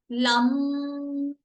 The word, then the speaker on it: लं: Root चक्रा का बीज मंत्र है लम, तो उसको हम प्रोनाउंस करेंगे लम। जितना लंबा हम म को खींच सकते हैं, पहले वाला वर्ड छोटा